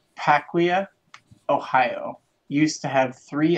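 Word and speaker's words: Piqua: now uh and it's pronounced pick wha okay cool you're a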